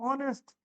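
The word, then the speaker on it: honest: अगर कहीं लिखा है, अब ओ है पहले तो ये एच हो चुका साइलेंट, तो ओ से उच्चारण निकलेगा मतलब ऑनेस्ट।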